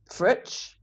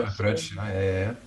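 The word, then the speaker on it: Fritsch: I could think of, but it's lovely in the summer months with some lovely, fritch. Mm-hmm. Yeah, fritch. Which I always say wrong. No, you said it right. So able to pronounce.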